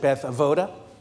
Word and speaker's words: Beth Avodah: And depending how long you've been with us, you might pronounce it Beth Avoda. Then that typically means you've been around for a while.